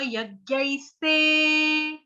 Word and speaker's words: यज्ञैस्ते: यजन्ते नाम यज्ञै, यजन्ते नाम यज्ञैस्ते, स्ते, जैसे कुकर की सीटी होती है, कुकर की सीटी जब बजती है तो कैसी आवाज आती है, ऐसे, ऐसी आती ना, तो यूं ही हमको बोलना है, इसका उच्चारण ऐसे ही करना है।